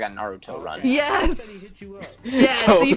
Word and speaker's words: Naruto: puts her arms back and she does like a Naruto run.